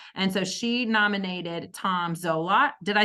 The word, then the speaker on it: Zolot: And so she nominated Tom Zolot.